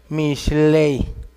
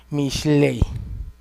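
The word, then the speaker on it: משלי: Mishlei. Mishlei.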